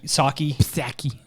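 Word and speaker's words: Psaki: attacking uh Jen Sak saki Pak it this p is silent manaki Jens saki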